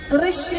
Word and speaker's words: कृष्ण: भगवान का नाम रखा कृष्ण कृष्ण कहने में जी घूमती है बोलिए घूमी जिसकी गलत बो मतलब हा उच्चारण ऐसा ही है अगर उच्चारण सही करेंगे तो जी घूमेगी उनका नाम इसलिए रखा